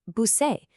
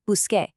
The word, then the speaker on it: busqué: If you just change the ending, you'd get busé, which sounds like busé. That's wrong. So the C changes to a Q to become busqué. It's just a fix to keep the pronunciation right.